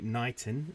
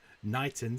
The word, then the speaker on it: Knighton: We have the Eastern Yar, which sort of comes from excuse me, Knighton, spelt with an N, as opposed to Knighton, spelt with a K.